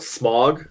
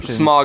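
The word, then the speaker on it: Smaug: it pronounced several ways in my head it just comes off a smog like yeah like the air pollution asking the same question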